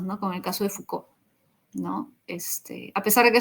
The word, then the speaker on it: Foucault: Foucault. Bueno, así se pronuncian.